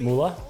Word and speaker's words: Mula: minute ago was george mula and actually sorry is it moolah did i say it right okay great uh george